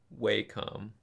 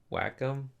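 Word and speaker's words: Wacom: Is it pronounced wcom or watcom? I think it's a wakecom. Wait. Whack way. Whackom. I used to always say whackom, but I'm pretty sure they actually want you to say wakecom.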